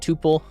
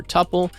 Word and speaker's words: tuple: I believe it's called tuple, not tuple. Some people, I think, say like tuple or some weird pronunciation for it, but it's called tuple, spelled like this.